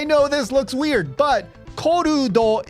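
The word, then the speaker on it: コルド: Yeah, I know this looks weird, but korudo is not a word in Japanese, and the best approximation that we can get to what korudo would be in English is something like called or cold.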